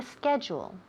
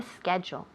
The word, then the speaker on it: schedule: Yes, I copied down the schedule. Now notice here the word schedule. Schedule. I hear this pronounced horribly from every Spaniard that I know.